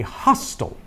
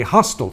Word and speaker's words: hostel: And then finally, a hostel. A hostel sounds kind of maybe even looks like hotel, but it's got that S in it, and it's pronounced ha, not ho.